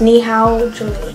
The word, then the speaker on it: Nihaoje: to make that money knee how will jewelry i'm i'm just i'm jack and that's how it's pronounced knee how julian so yeah with that